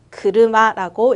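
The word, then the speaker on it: 車: 자동차 어떻게 읽을까요? 그르마라고 읽어주시면 되죠. 일본어 한자어 딱 한 개 왔는데 어떻게 읽을 거예요? 그르마 세 글자로 읽어준다.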